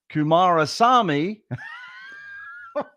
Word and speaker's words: Kumarasamy: producer, please edit in the correct pronunciation of Brendan's last name, which is Kumarasamy, which I royally messed up in the intro there, Brendan.